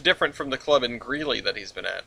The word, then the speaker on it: Greeley: Grizzly whatever really really you said it right the first time you said Greeley and then greasley this greasy place or